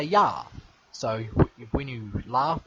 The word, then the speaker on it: ja: I didn't know that I didn't know that ja was a ya.